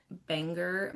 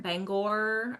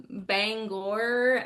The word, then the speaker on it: Bangor: Um, and then I'll be at Signed with Spice up in Banger. Bangor. I always say it wrong. My Texas twang wants to be like Banger. Um, Bangor, Maine in May.